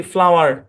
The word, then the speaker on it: flour: ওকে, তারপরে দেখেন FLOUR, উচ্চারণ কি? ফ্লাওয়ার। ফ্লাওয়ার। ফ্লাওয়ার মানে কি? ফ্লাওয়ার মানে হচ্ছে ময়দা।